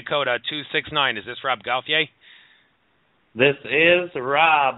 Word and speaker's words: Gauthier: All right, so this is a French name, but in the United States, most people call it Gauthier. That's what I was raised saying. That's how I referred to it, but it's pronounced Gauthier, Gauthier, all sorts of different fun spins on that one.